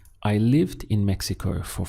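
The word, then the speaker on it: México: Mexico would be in Mexico notice the pronunciation there where we have the stress point over the e so we get me and this sound here Meo it sounds like a h here Mexico in Mexico how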